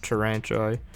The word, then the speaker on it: Taranto: You know, when you get Hopper and you've got Taranto, yeah, that's it. That's how you pronounce it.